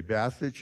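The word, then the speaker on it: Basich: a it's b-a-s-i-c-h but b-a-y is kind of a good way to think about it if you're my brother you'll say bastage if you're a Croatian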